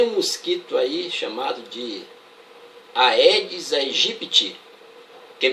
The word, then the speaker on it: Aedes aegypti: A pronúncia correta desse cara aí é Aedes aegypti. Eu ainda não ouvi nenhuma pronúncia correta nos telejornais. Vocês já ouviram? Repetindo, Aedes aegypti.